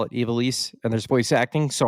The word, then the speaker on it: Ivalice: Everybody I've heard says it's Ivalice.